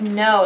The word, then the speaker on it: know: Write the word know, like I know something. There's a silent letter in that one.